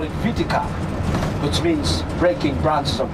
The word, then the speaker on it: Viti: for us, so why not we call it Vitika, which means breaking branches of trees. The word Vitika is a Fijian word, breaking branches of trees. V-I-T-I-K-A. Soon, everybody came to an agreement. We'll call this island Viti, from the word Vitika.